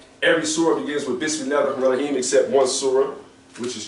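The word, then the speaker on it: بسم الله الرحمن الرحيم: So the proper pronunciation of Bismillaahir-Rahmaanir-Raheem is Bismillaahir-Rahmaanir-Raheem. Okay? All these elongations.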